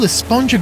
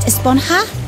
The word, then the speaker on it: Esponja: And that's what this whole Esponja Grande thing has been about, huh? Actually, it's pronounced Esponja with an H sound at the end. Really? But we've all been saying Esponja.